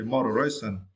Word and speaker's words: moderation: and for this verse you need to stretch the first syllable right right right okay moderation and here the meaning